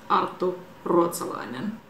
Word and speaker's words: Arttu Ruotsalainen: Arttu Ruotsalainen.